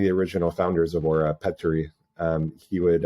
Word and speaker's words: Petteri: original founders of Oura, Petteri. He would, I'm mispronouncing that because when you do two consonants in Finnish, there's like a up and down kind of sound. So it's Petteri.